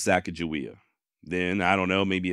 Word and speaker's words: Sacagawea: name or more specifically how to properly say it like many of you I've always thought it was sakaia then I don't know